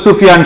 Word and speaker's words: সুফিয়ান: করব লক্ষ্য করো আমার নাম ডাক নাম হলো সুফিয়ান সবাই লিখবা সুফিয়ান শুধু সুফিয়ান লিখি সুফিয়ান